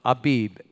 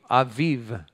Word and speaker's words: Abib: Now say it like a Hebrew, Aviv. The B and the V, depending on a little indicator in the letter, is either a B or a V.